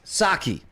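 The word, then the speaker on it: Psaki: Pisaki is pronounced Saki. Oh, see, the P is silent. Okay, so it is Saki. I wondered. Like the drink.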